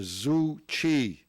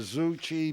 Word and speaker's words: Tzu Chi: it right, Joe, the Tzu Chi Buddhist. Oh, okay. We don't say Buddhist Foundation. You don't say the T, right? No, I don't say it. The Tzu Chi Buddhist Foundation in Upper Newton Falls.